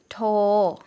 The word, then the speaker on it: โทร: 노력하다, พยายาม 비다, ว่าง 통화 중이다, สายไม่ว่าง 전화하다, โทร 새로, ใหม่ 전화하다 경우에는 러르아가 붙어 있지만 러르아가 묵음이에요. 그래서 토라고 더 다한만 발음해 주시면 되겠습니다.